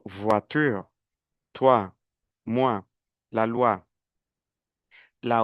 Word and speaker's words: voiture: En cambio, yo sé que la o con la i es wa. Yo digo voitur, toi mua, la loa.